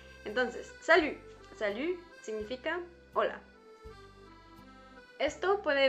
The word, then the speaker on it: salut: Tienes que decir una I pronunciando una U. Entonces, si dices U, está perfecto, ¿ves? Entonces, salut.